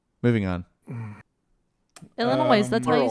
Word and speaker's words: Illinois: she just put an S on Illinois moving on Illinois that's why you say